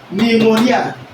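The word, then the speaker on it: pneumonia: It is called pneummonia. So when we get to that that you understand how those word are pronounced and stressed there something is silent.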